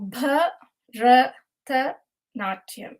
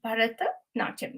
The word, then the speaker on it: Bharatanatyam: I think it's good to learn how to pronounce this word. It is Bharata and Natyam. So Bharata Natyam. Bharata Natyam.